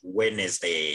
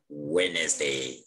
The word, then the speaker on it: Wednesday: thank you so the the d is silent when you read you read wednesday you don't you don't uh pronounce the d so don't say wednesday you read it like wednesday wednesday so d is